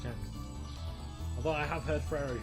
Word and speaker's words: Jacques: Oh, Jocks was the other one. Jocks was the pronunciation that everyone told me it was. It's Jocks. It's Jacques. It's Jacques. I'm telling you, it's Jacques.